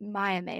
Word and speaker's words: Maya May: I randomly found her podcast through, is it Maya May? Is that how you pronounce her name? Yeah.